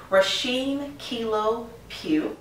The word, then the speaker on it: Rasheem Kilo Pugh: Today we have Rasheem Kilo Pugh.